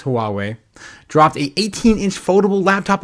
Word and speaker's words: Huawei: I can never pronounce this. Hui Huawei, I think it's Huawei dropped a 18inch foldable laptop with no physical keyboard called the Matebook Fold.